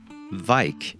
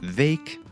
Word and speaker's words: Vake: Now, I pronounced his name Vike in the video because I thought Vake sounded fake.